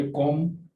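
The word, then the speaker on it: comb: इसी तरह से ये कॉम यानी जो कंघी होती है, इसमें भी नहीं पढ़ेंगे।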